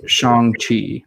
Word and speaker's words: Shang-Chi: page and you're putting importance on things like pronunciation. So it's Shang-Chi, and that's something that we're going to probably push quite often here as we catch a lot of the discussions happening.